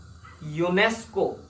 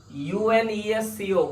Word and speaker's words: UNESCO: there is a reason see what is this UNESCO not UN ESC or we don't say this UN ESU we say